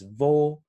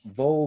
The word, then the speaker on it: wo: and the german bowl is pronounced with a v but uh in english